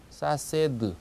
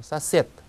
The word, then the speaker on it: сосед: 그래서 이웃사람 할 때 이웃사람을 그대로 읽으면 사세드 이렇게 되죠. 그러지 않고 실제 러시아에서는 D가 때처럼 발음이 나서 사셋 이렇게 발음이 되고요.